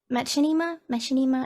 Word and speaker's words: Machinima: Machinima? I don't know how you say it. Machinima, yeah.